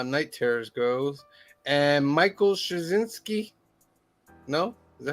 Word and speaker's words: Straczynski: And Michael Straczynski. No? Is that how you say it? Straczynski, yep.